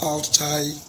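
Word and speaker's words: Altay: Well, I'm sugu the pronunciation of this goalkeeper's name is Al Thai Bay.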